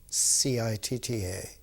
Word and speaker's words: citta: of thought, called in Sanskrit citta, C-I-T-T-A, pronounced citta.